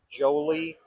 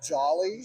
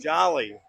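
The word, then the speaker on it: Jolley: well it's actually pronounced Jolly Jolly yeah I apolog Jolly Holly Jolly Christmas you know Jolly Green Giant that was that was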